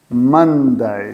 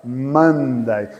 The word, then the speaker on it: Monday: Monday. Escreve assim. Monday. Ok? Pronuncia como se fosse um A. Monday. Escreve O, mas pronuncia Monday.